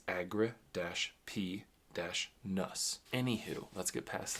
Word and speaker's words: Agrippinus: i n u s now I would have thought it would be agrippinus or agrippinus but he provides or they provide the uh breakdown of the pronunciation at the beginning of each chapter and it's Agra - p- nus anywh who let's get